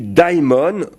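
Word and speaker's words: δαίμων: Daimon, il faut dire, si on prononce bien.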